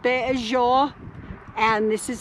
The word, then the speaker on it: Béʼézhóóʼ: is called the bajo uh this is called beijou and this is how it's spelled in the dna bazaar and basically the